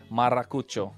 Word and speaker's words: Maracucho: It took some time, but hey, you're forgetting to roll the R, man. Hey, man, we warmed up to his... Maracucho.